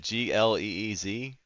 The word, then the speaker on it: Gliese: Is that Gleez? It's spelled Gliese.